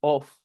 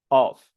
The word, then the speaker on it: off: No se dicen on y off. La primera es un larinate, A, y la de abajo es un open O, on and off.